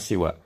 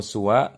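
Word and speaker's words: سوى: Jadi nggak perlu diharokatin. Baik kita niatkan sebagai badal ataupun sebagai mansub, tetap kita bacanya siwa. Lam yatakhallafit tullabu ya siwa au suwa talibin.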